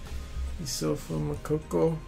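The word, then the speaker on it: Youssoufa Moukoko: Jamal Musiala, Jude Bellingham, Issofa Mokoko.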